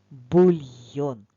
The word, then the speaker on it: бульйон: та бульйон Так це бульйон визначимо наголос в слові бульйон покличемо слово бульйон наголосна О правильно в в словах де є буквасполучення йо наголос завжди буде на о бульйон запишемо